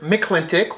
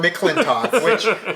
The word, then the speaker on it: McLintock: watch it so yes pronounced either McLintock which they say many times throughout the new tomato tomato McLintock which I'm kinda I go against the grain so when I watch